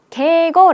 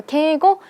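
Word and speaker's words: 敬語: 표현 이라고 적혀 있어요 저희 처음에 경험 뭐라고 읽었죠 게고 라고 읽었습니다 그래서 게이고 경어 표현 계곡 형의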